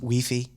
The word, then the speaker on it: Wi-Fi: You know, in Europe, they don't how they pronounce Wi-Fi. I found this out over the weekend. No. What? Weei. Do they say we That's another reason why I could never live in Europe.